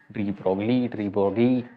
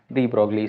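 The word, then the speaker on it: de Broglie: डी ब्रोगली, ऐसे अलग अलग तरीके से इनको प्रोनाउंस किया जाता है। डी ब्रोगली हम लोग बोलेंगे ताकि आप लोग इसका स्पेलिंग भूलो नहीं, ठीक है।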